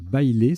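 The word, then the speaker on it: bailé: Le tirage suivant, là c'est un petit coup de vocabulaire, il faut connaître bailler, ça se prononce comme ça, B-A-I-L-E, donc un E au bout de bail.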